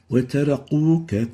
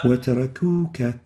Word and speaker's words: وتركوك: The next mistake is pronouncing the kaf as if it is a qaf. وَتَرَقُوكَ قَائِمًا وَتَرَقُوكَ. Instead of kuka, quka, wataraquqa. And this is wrong. They are two different letters and they shouldn't be exchanged with each other.